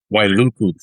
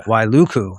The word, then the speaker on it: Wailuku: And Paul, you're born in, again, if I fuck up any of these pronouncing these words, but you're born in Wailuku, Hawaii in 76? Wailuku, but yeah. Wailuku.